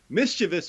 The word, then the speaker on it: mischievous: going to start 2021 by pronouncing it correctly apparently mischevous Mark Chio and I